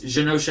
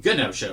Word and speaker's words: Genosha: I guess Genosha is how it's pronounced. Before, I always called it with a G, a hard G. Wow. I always pronounced it Genosha with a hard G,